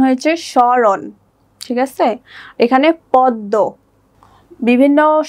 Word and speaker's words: স্মরণ: এখানে স্মরণ, এখানে মটা উচ্চারিত হয়নি। স্বর্ণের ক্ষেত্রে মটা উচ্চারিত হয়নি, কারণ এখানে ম ফলাটি উজ্জ আছে, এখানে জাস্ট উচ্চারণ হয়েছে স্মরণ, ঠিক আছে।